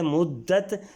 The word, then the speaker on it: مدت: سے پہلا لفظ ہے مدت، تو مدت میں میم پر پیش آئے گی، دال پر شد آئے گی اور شد کے